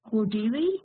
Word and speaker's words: Okwudili: uh and i think your last name is pronounced odily is that correct yes okay and he's going